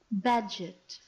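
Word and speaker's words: Bagehot: development philosophy Walter bag bagio should we find out how to actually say this guy's name we've read it before badget badget all right fine sometimes those are not the common pronunciation but anyway Walter badget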